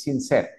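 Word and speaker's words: sincere: Esa vocal E se escribe, pero no se pronuncia. Toda palabra en inglés que termine en vocal E, la E no se pronuncia. Es completamente muda, pero sí se escribe.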